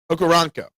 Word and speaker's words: Okoronkwo: The W is silent. So it's Okoronkwo. Gotcha. Okoronkwo. Not Quo, Co.